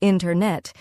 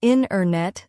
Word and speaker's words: internet: We don't usually say internet. Instead, we say internet. The T sound gets softer or disappears.